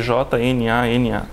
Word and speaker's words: Jnana: Escreve-se J-N-A-N-A. E pronuncia-se Jnana. Quase com um NH. No português.